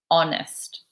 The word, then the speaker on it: honest: pronounce that there's no that H is silent honest serious shy and on